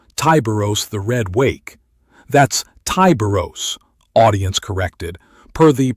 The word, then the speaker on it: Tyberos: The chapter master, Tyberos the Red Wake, that's Tyberos, audience corrected, per the pronunciation frustration on the cryo-vault video, wields twin